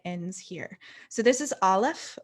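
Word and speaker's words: א: So this is Aleph, which is it's technically silent, but most Hebrew scholars would say that it is the sound just before the A in apple.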